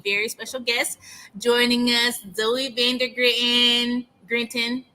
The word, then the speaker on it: Zoe Van der Grinten: Today we have a very special guest joining us, Zoe Van der Grinten. I said it wrong. No, you said it right. It was perfect.